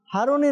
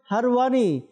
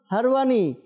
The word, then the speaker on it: হারওয়ানী: বলি খাজা উসমান হারুনী উনার নাম হারুনী নয় তার সঠিক নাম হবে হারওয়ানী তো দর্শকবৃন্দ অনেকের হয়তো আশ্চর্য লাগছে কিন্তু সঠিক উচ্চারণ হারওয়ানী তো দর্শকবৃন্দ যাব এই